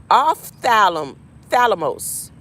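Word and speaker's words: ὀφθαλμός: Ophthalmos. Ophthalmos. And it's spelled O-P-H. There is that P-H again, the P-H balance. The P-H before the T-H.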